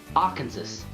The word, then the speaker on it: Arkansas: Arkansas. Arkansas? No, I know it's Arkansas, but it's spelled Arkansas. Arkansas. R plus the place that Dorothy came from.